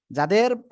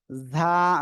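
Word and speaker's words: ز: এখানে দেখাই এই যে ঝা ঝ আকারে ঝা আমরা এরকম পড়ি না ওকে এই যে ঝকারে ঝা এই যে ঝা সিম্পল উচ্চারণ করতে হবে আপনার জিহ্বার আগা সামনের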